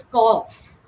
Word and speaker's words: cough: yeah enough T do CU FL do through okay it is not CU it is cough cough yes cough cough